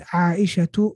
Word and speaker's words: عائشة: So if we were to say the word Aisha in a sentence and not stop on it, we would say قالت عائشة رضي الله عنها. قالت عائشة رضي الله عنها. We say two at the end.